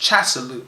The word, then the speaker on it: Casalau: month, which is by us called," and it's pronounced Casalau here, "and by the Macedonians Apelles, in the